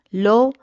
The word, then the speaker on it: Lo: En el idioma inglés, la palabra bajo, low, se pronuncia igual que la palabra al inicio de este versículo que significa he aquí.